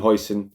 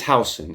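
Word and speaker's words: Huijsen: Dean Hoyson um Hson, sorry. Apparently, it's House. Everybody in Spain's been told to to to pronounce it House.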